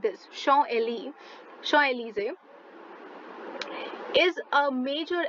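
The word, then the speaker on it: Champs-Élysées: now you must be wondering why am i pronouncing it as show ali it's written champs but look at your food for thought it says show ali which is pronounced as that is why i'm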